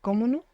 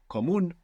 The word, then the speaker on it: común: Is it comuno? Comono. Común. Ah. So there's no way to know that. Comuno or común? Común. Común. Común with the accent on the end.